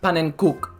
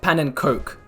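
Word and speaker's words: pannenkoek: so first of all i was told it's pronounced paninkuk not pan and coke i got it secondly i didn't really explain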